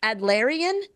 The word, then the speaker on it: Adlerian: The High Achievers Guide to Soft Skill Confidence in Leadership and Life, and is it Adlerian approach to self-confidence for high achievers, Tricia? Is that how I pronounce that?